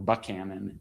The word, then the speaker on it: Buchanan: She writes to to um I'm sorry, to uh Buchanan or Buchanan as he is apparent apparently he pronounced it.